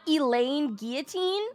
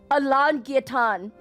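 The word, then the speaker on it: Alain Guilloton: Wait, what the That's how you say his name? It's not Elaine Guillotine.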